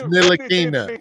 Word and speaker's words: Ntilikina: I would send Frank Nikita ass out of here yesterday. And his name is Ntilikina. Frank Ntilikina. Y'all got me saying his name wrong.